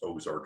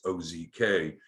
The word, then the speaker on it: OZK: uh ozark bank which it's not pronounced ozark it's ozk uh are are doing